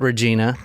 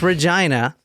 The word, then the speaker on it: Regina: stop was Regina and that is how you say it not Regina it's Regina I saw a video